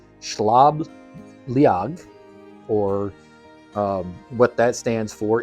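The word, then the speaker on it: Sliabh Liag: get it wrong because I'm gonna try to do the the Irish pronunciation um schlab liag or what that stands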